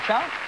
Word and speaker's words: Chau: Audrey, pronounce that name for me. Chau? Chau. Chau, okay.